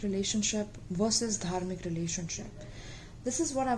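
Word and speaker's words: धर्म: Okay, that's how we pronounce it in Hindi, and it's a Hindi word itself.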